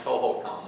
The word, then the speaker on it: Hohokam: Now you may say, Steve, you're pronouncing that wrong. It's Hohokam. Well, when you dig into it, both words are correct. Hohokam and Huhugam. Hohokam is more of an archaeology type term.